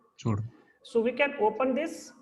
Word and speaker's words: pseudo: So P is in this silent. So it's called pseudo. Sudo.